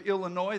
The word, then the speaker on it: Illinois: The gentleman down here on my left is from the great state of Illinois. The S is silent, and he plays all kinds of instruments.